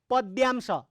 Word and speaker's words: पद्यांश: गलत उच्चारण गर्नु हुँदैन त्यसको, पद्यांश, द खुट्टा काटेको द, यो पद्यांश।